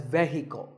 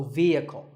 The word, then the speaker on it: vehicle: often pronounced wrongly as vehicle but the e is a long vowel and the H is silent so vehicle number eight is this